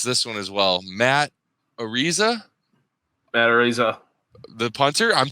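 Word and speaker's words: Araiza: But I'm like, it's like a razor.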